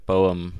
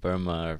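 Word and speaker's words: Boehme: That's cool that you touched on Jacob Boehm or Jakob Burma. I've heard it pronounced different ways, but he's actually, one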